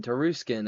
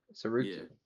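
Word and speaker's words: Tsarukyan: Tarukin Teruskin. I was close to it. The the T is silent. Suian Sukian.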